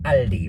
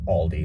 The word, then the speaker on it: Aldi: Big Lots and Walmart I tried Aldi or Aldi whatever I tend to pronounce it German because I speak semi